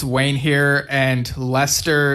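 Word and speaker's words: Leicester: On the Drum Talk TV page, we got Wayne Sims who says, "Hi, it's Wayne here, and Lester is pronounced as Jester in the UK."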